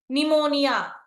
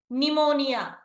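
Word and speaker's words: pneumonia: చేద్దామా వీటిని first one నిమోనియా నిమోనియా ఇక్కడ మనకి పి ఉన్నా కూడా పి ని మనం ఏం చేసాము సైలెంట్ చేశాం అవునా నిమోనియా అండ్ కమింగ్ టు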